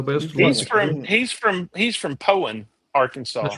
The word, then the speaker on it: Poyen: And Yeah, most that's- people who don't know how to say Poen say it wrong. They say it Poyen because it's Poyen. spelled P-O-I-N, and that's wrong.